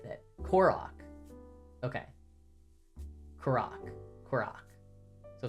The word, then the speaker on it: Korok: Korok. Okay. Korok. So it's probably Korok. I'm trying to put the emphasis on the first syllable as you spelled out.